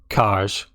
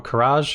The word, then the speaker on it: Kaj: It's pronounced Kaj. Mind Flayer Kaj, or Karaj, however you want to say it, is a 3 mana 3/3, which is good stats.